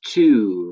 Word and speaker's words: tu: And then you is tu, right? Just like French. Also rhymes with you, if that helps.